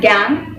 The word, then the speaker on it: gangue: And the next one we have, so it is pronounced as gangue, okay?